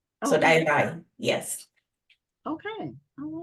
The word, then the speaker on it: Dayirai: Okay, so the actual pronunciation of my name is Dayirai. So the D sound is a quiet, a soft D. It's a Shona name originating in Zimbabwe. So Okay. Dayirai, yes.